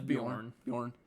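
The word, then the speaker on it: Beorn: Is that how say his name? Yeah, it's Bjorn.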